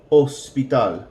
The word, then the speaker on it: hospital: H is a silent letter in Spanish. So hospital in English will sound like hospital. The H is completely silent.